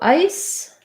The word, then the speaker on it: ice: So ice has the I diphthong and an S, and eyes has the I diphthong and a Z.